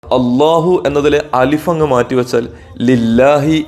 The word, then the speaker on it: അല്ലാഹു: വാക്കാണ് അള്ളാഹു കൃത്യമായി ഉച്ചരിക്കണം തഫ്ഹീമിന്റെ കനപ്പിച്ചു പറയേണ്ട ലാമാണ് അല്ലാഹുവിലെ ലാം ഇനി മറ്റൊരു അത്ഭുതം അള്ളാഹു